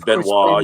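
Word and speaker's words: Benoit: it's like Chris Chris benoir although when it's spelled like Chris benett Ben is Beno yeah abolutely should I say yeah pronounced Beno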